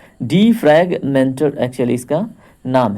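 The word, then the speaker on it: defragmenter: यहाँ पे देखिए उच्चारण में कितना मिस्टेक हो रहा था। डीफ्रैगमेंटर एक्चुअली इसका नाम है, डिस्क डीफ्रैगमेंटर।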